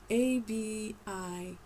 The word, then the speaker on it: Abinoam: Abinoam. Abi. Because there's Abba and there's Abi. It's not Abai. It's not a Y. It's an E. It's an I, but it's pronounced like a E.